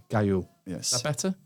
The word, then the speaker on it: Gaillot: I'm leaving that in as well because it's just a testament of how bad I am at pronouncing. Say it again for me. Gaillot. Gaillot.